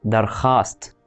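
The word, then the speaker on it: درخواست: مثال على كده كلمة درخاست يعني طلب. فانت ما بتنطقش الحرف لو وقع ما بين الخاء والالف. حرف الواو بس لو وقع ما بين الخاء والالف ما بيتنطقش خالص.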